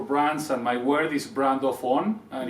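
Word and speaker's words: BRANDOFFON: My vision for brands and my word is brand of on, and it's pronounced brand of on all together.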